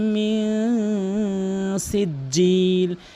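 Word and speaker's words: من سجيل: বিহিজা বিহিজারাতিম মিন সিজ্জিল, এখানে কিন্তু বলে মিন সিজ্জিল, কখনোই বলবেন না, বলবেন মিন, নাকের ভিতর নিয়ে বলবেন মিন সিজ্জিল, মিন সিজ্জিল।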